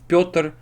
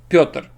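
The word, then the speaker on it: Пётр: So we have yo, you see y and o. So y softens the consonant, so it becomes, instead of p, it becomes p. And then what's left of yo is o, so it becomes p, Pyotr, Pyotr, Pyotr. You see, there is no y, just Pyotr, Pyotr, p, o, tr, Pyotr, Pyotr.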